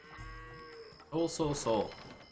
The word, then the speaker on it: SeOul: That said, SeOul's villagers are definitely not working optimally either. Very messy game. Oh, it's pronounced SeOul. My bad.